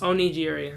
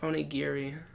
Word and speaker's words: onigiri: and liked it was oniy giri no Elder Scrolls online that game is actually pretty fun and I'd like to hop in and every so often once it's actually pronounced onigiri onigiri yeah onigiri onigiri I